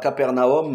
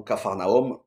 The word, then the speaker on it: Capharnaüm: a Jésus qui réunit à Capernaüm ou capharnaüm comme vous voulez la prononciation il réunit à l'intérieur